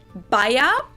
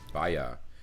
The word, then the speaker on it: Bayer: was the english pronunciation but the correct german pronunciation would actually be baia baya yeah like bayern baya baya bayan baya and